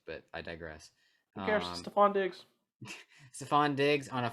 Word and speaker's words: Stefon: Is it Stefon or Stefon? How do you pronounce it?